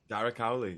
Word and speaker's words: Darragh Cowley: I wrote it down phonetically how I think it sounds. Is it Darragh Cowley? Darragh Cowley, yeah, that's me.